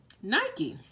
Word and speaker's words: Nike: last week I believe Nike I believe this house she's actually pronounced just like the shoe because I know the shoe company named their shoes after her so Nike the goddess